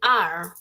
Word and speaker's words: are: are nada más así No leas la e Solo di are Esa es la pronunciación